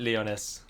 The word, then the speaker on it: Lyonesse: Lyonesse, there you go. She said it herself. That's how everyone knows I've been saying it wrong. Because she herself calls it Lyonesse.